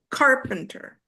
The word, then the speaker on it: carpenter: And the first one is stressed, carpenter.